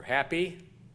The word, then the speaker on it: Hapi: The first one is Hapi, or Happy, or Api, depending on if you pronounce the H.